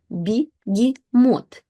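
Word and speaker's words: бегемот: So when ye is not stressed, it basically switches to the sound E. So we will have begemot, begemot, begemot, begemot.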